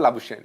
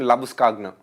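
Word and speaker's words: Labuschagne: couldn't pronounced yesterday but he's actually not called lausen his right pronunciation labus kagna sorry we all heard it laush kagna is it that's what we going to stick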